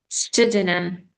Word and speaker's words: pseudonym: Pseudonym. So here, so you don't pronounce this word like sorry, it's lar pa. Okay, it's like silent when we started with s.